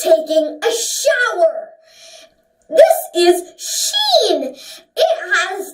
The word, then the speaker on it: ش: This is sheen.